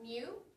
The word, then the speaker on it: mu: Remember, this is pronounced mu, and this is sigma.